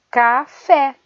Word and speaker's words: café: Depois vem café. A sílaba que é pronunciada com mais força é a sílaba fé, café.